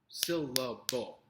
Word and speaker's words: syllable: Syllable. 3 syllables. Which one is emphasized? Which one is stressed? Is it syllable? Syllable? That sounds silly. Syllable. The first syllable, again, is stressed in this.